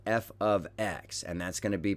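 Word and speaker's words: f(x): something new also is function notation this is pronounced f of x and that's going to be part of your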